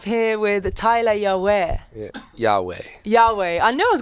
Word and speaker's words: Yaweh: Yahweh.